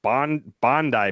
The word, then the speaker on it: Bondi: Bondi Beach is how they pronounce it.